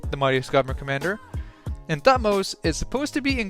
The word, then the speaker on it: Thutmose: I was right, it's Thutmose.